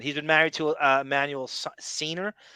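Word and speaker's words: Seigner: She's actually in the Ninth Gate, Emanuel Siner. So in addition to that, he has four accusations of either rape or sexual miscond. He's been married to Emanuel Senior S.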